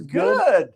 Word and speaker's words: Goode: Is that how you pronounce it? It's good.